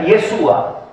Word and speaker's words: Yeshua: o yeshua en eh más o menos la pronunciación en hebreo sería yeshua eh se registra más